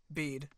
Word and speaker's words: Bede: Is it Bede? Am I a pronouncing his name right? bead.